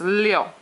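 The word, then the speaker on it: liù: it here that um IU says yo they used to spell it I O you but that was too many vowels so they took out the O yo so it's Leo Leo second fourth tone seven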